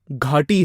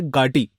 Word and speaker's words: घाटी: आप सिंपल से अगर घाटी है, घ आपका रहा है गाटी। ठीक है, गाटी, या फिर हड़प्पा की या फिर मोहनजोदाड़ो की, हर सभ्य भ। तो ये जो ग घ ब भ द ध है ना, इन सब में अंतर पता होना चाहिए।